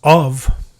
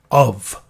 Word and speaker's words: of: And the way we pronounce of, we sound it out as of. And it sounds like an OV, not an F.